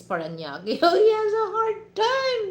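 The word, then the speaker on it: Parañaque: city paraki cuz actually when you Google that guys you know they sound is spanak but you know if you pronounce that in Filipino pronunciation is paranak he has a hard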